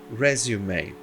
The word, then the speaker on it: resume: Resume. Outra palavra terminada em E e que você pronuncia o E.